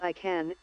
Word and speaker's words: ICANN: The Internet Corporation for Assigned Names and Numbers, or pronounced as ICANN, is the entity that coordinates domains and IP addresses for the Internet.